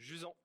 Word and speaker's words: Jusant: Jusant. And can you tell the people what Jusant is? Yeah, Jusant is simply a French word we use to describe the receding tide.